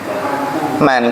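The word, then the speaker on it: مَن: inna sesungguhnya man atau min tadi bacanya man. Kenapa dibaca man? Sana setelahnya fi'il. Karena kalau setelahnya isim dibaca apa? Min.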